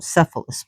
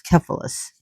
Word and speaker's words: Cephalus: And some people call him Cephalus, but it's Cephalus, even though it's spelled with a C, it's supposed to be Cephalus. And he was a very handsome hunter.